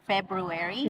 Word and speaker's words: February: It used to be hard to say February because you have an R, February, and then you explain, like guys explain, like just eat that R and be February.